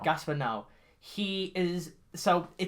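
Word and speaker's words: Gaspar Noé: now which is it i don't know how to say that i say gasps but now i've heard a lot of people say it like that i'd say gaspar now gaspar now he is so it's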